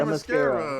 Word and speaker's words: Themyscira: pronounce- Yeah, Themyscira.